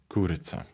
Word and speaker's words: курыца: So let me just play the correct pronunciation here with the Belarusian. Гэта курыца. Kuryca. Kuryca.